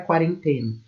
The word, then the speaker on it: quarentena: de um verbete para quarentena. Um verbete que teria todos os elementos assim prototípicos e possíveis seria a entrada. Aí, a forma como nós falamos isso, quarentena, essa é a sílaba tônica.